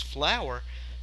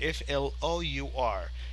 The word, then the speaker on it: flour: living room with no this flower is pronounced the same it is pronounced as flour but it is spelled differently f l o u r flour what we Ed